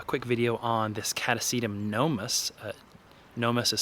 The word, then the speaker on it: gnomus: to do a quick video on this catasetum gnomus uh gnomus is spelled g-n-o-m-u-s and it's a pretty rare species